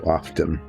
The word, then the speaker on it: often: out words like that where the t is silent when most people say it but I guess he's